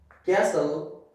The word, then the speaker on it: castle: Uh, at the end of the word, okay, before LE, at the end of the word, before LE, the T is mostly silent, okay, sometimes not, but mostly it is silent, okay, like castle, wrestle, whistle, okay.